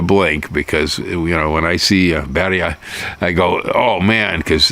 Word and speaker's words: birria: Birria seemed to be the big deal. It's pronounced the way we usually do in English. It's birria or birria.